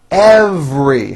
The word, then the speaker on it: every: movie is very educational every has a very strong V sound followed by an R every we travel every year